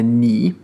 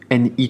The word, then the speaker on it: 你: Donc on a ni, ni troisième ton qu'on a vu plusieurs fois déjà dans les leçons précédentes, qui doit plus trop nous poser de problème. Ni, ni.